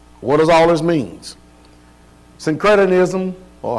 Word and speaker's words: syncretism: How you pronounce that word? Synchronism. Syncretism.